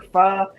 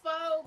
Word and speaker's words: pho: Like earlier, I saw a recipe on TikTok for pho, so I will probably go to the Asian